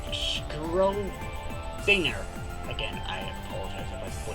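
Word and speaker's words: Schrödinger: Oh, it's pronounced I'm sorry, it's not pronounced Schroeder. It's pronounced as Schrodinger.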